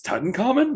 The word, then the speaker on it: Tutankhamun: they're showing up how to pronounce Tutankhamun correctly. Yeah. It's like it's Tutankhamun.